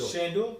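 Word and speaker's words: Sandor: How do you pronounce it? Shandor.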